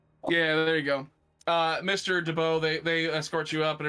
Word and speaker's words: DeBow: It's spelled with a U instead of a EAU. So it's DEBU, DeBow.